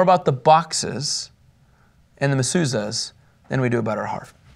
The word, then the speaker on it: mezuzahs: Mezuzahs.